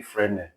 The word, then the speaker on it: Fresnel: Fresnel, but it's actually Fresnel. The S is silent.